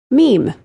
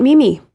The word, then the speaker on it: meme: Meme is the correct pronunciation. It is not mimi.